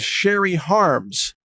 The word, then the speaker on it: Cherie: Her name is Sherry Harms, Harms, Sherry Harms. It's spelled Cherie.